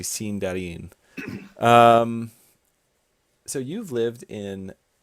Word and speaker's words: Sindarin: Or if we want to be really pretentious about it, we can say Sindarin, which is actually how you say it, but nobody says that because, well, just nobody says it. So it's a interesting. Yeah, it's actually Sindarin.